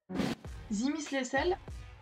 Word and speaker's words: Zimislecel: Zimislecel, et oui j'ai vérifié, ça se prononce comme ça, est un traitement développé par Vertex Pharmaceutical, que vous connaissez peut-être certains, notamment pour d'autres traitements.